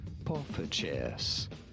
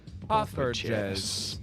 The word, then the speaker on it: poffertjes: Poffertjes. Poffertjes. Pretty straightforward. Once you know the delicious mini Dutch pancake. Poffertjes. Right? That's how you say it.